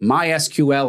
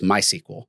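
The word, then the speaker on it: MySQL: Like my SQL is not my SQL, it's my sequel.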